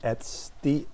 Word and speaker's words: etcd: has it's it's it's spelled etcd and it's pronounced at st and so that that database essentially um there's